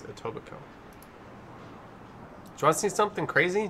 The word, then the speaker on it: Etobicoke: where one of the people kept calling it tobacoc or i think it totally koki but it's etobicoke do i see something crazy do you want